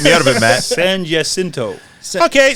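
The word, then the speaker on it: San Jacinto: this mess get me out of it Matt San jinto okay San jinto stakes in Santa Anita California he had been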